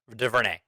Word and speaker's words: DuVernay: week is the director uh eva de verne de vernay yeah we should have learned how to actually pronounce her name i did you did i'm